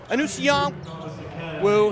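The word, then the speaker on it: Anusion Wu: shot Dominic beg you beg your pardon it's anong woo he picks up his second very quickly a Newan wo is spelled a n u s i o n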